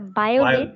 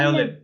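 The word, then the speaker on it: violet: স্যার এটা কি ভায়োলেট না বায়োলেট, মানে বি না? ভায়োলেট, ভায়োলেট, ভি। ভায়োলেট, জি ভায়োলেট, স্যার। ইয়েস। আমি ভাবছি বায়োলেট। ভায়োলেট তো কোনো শব্দ নেই, এটা হচ্ছে ভায়োলেট।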